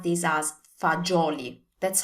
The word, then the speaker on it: fagioli: So in standard Italian, we pronounce this as fagioli. That's how we say that. So remember, it's a J sound. Fagioli.